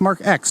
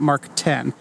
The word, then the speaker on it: Mark X: the Mark II and it is pronounced mark x not Mark 10 even though Mark II